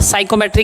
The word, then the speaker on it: Psychrometry: क्या होता है साइकोमेट्री, क्या होती है साइको, भाई ये पी साइलेंट रहता है इसमें, ठीक है।